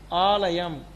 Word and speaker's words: ஆலயம்: ஆலயம். இப்போ இதை எப்படி உச்சரிக்கணும்? ஆலயம். யாரோ ஒருத்தர் சொல்லுங்க. சொல்லு. ஆலயம். ஆலயம். ஆலயம். லயம் லாதான். ஆலயம் அல்ல, ஆலயம். சொல்லுங்க. ஆலயம். சும்மா நார்மலா ஆலயம். ஆலயம் இல்ல, லாதான் சொல்லணும். ஆலயம்.